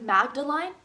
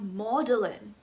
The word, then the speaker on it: Magdalene: So this sounds like Magdalene. No, it's pronounced Magdalene.